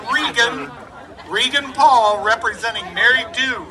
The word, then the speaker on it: Reagan: Reagan Paul, pronounced Regan.